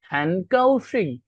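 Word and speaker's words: 很高兴: আপনারা অনেক সময় অনেক বইয়ে দেখবেন লেখা ক, ক, বাট অনেক সময় যেমন ইজ লাইক হ্যানকাউশিং, হ্যানকাউশিং, ওইটার উচ্চারণ কিন্তু হ্যানকাউশিং, সেখানে কিন্তু জি আছে। সো ম্যাক্সিমাম ক্ষেত্রেই জি এর উচ্চারণ গর মতো হবে।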